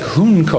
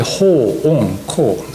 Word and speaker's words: Hoonko: It looks like hunko or something, or ho-onko, or it's actually ho-onko.